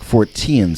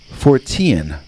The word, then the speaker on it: Fortean: Keel and Beckley headed up the New York Fortean Society. That was how Keel pronounced it, Fortean, not Fortean.